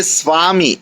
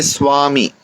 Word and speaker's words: Swami: So though it is Va, V, Va, it is pronounced more like a WA.